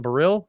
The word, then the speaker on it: Baril: Got a great guest, Robert Baril, accent on the second syllable, right? On Baril.